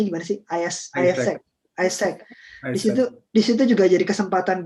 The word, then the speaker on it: AIESEC: Oh, Iqbal juga ada join ini kan, AIESEC ya, bacanya gimana sih? AIESEC.